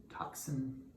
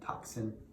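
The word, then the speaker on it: tocsin: is patrick higgins and the album is called toxin it's spelled t-o-c-s-i-n not t-o-x-i-n-t-o-c-s-i-n toxin pretty cool artwork really hard to read though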